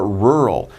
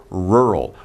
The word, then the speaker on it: rural: about the pronunciation a rural be careful because pronunciation is right r l rural rural means you're in the country so you can have